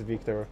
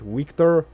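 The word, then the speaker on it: Wiktor: the situation no no it's always a v sound it's always a v so you don't use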